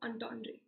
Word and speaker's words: entendre: Double entendre, iska pronunciation zara dekh lo, entendre.